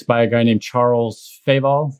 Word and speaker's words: Feval: It's by a guy named Charles Feval, F-E-V-A-L, accent on the E.